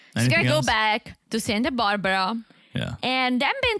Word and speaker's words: Santa Barbara: way you're saying it you're putting the accent on the wrong syllable have you been no